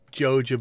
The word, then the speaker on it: Joja: When you say Joa, now say it like the Sega logo.